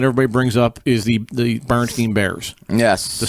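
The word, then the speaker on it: Berenstain: Bernstein, like a stain on your shirt. Yes. And what everybody remembers from back in the day is Steen, kind of like a Jewish name, Oh, like yeah.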